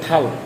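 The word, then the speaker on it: 달: যেমন আমরা এই জায়গায় যদি দেখি, এই যে এই জায়গায় দেখেন সুন্দর করে দেখানো হয়েছে, এখানে দেওয়া আছে থাল। থাল অর্থ হচ্ছে মাস। এটার উচ্চারণ কী হচ্ছে তাহলে?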